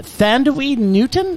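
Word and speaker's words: Thandiwe Newton: but still broodingly hot i might add uh thandaweed newton is that's how it's pronounced it's just it's just candy she's now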